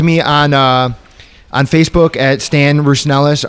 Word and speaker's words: Rousonelos: You can reach out to me on Facebook at Stan Rousonelos, Rousonelos. It's that long Greek name that's hard to pronounce.